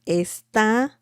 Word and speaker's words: está: It's a slightly different pronunciation, actually. Esta, this, está.